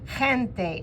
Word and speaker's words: gente: Another word that is important is gente. That G is like you're spitting from your throat.